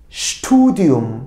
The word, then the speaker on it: Studium: S, T, Şt. Studium.